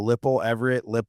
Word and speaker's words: Lippel: Yeah, it's Lippel.